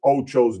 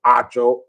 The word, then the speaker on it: Acho: And again, I've been mispronouncing Emmanuel Ocho's name wrong. Apparently, it's Emmanuel Acho.